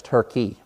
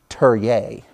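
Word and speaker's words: Türkiye: is what they did, to change the pronunciation of their name. You know it as Turkey. They now, and I don't, can't even do it service, they want to be known as Turye.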